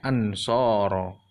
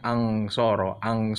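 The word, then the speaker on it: أَنْصَارًا: Contohnya dalam ini ang kan aslinya ansoro ya. Yang penting bacanya ang gitu. Jadi bacanya angsoro, bukan seperti itu.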